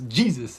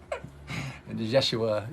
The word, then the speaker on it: Yeshua: wasn't Jesus either I mean that's how we pronounce it as you know White America it's Jesus it's Yeshua you know Joshua yeah and there was actually